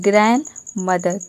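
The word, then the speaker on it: grandmother: तो यहाँ पे डी साइलेंट है, ये हो गया ग्रैंड मदर, ग्रैंड मदर।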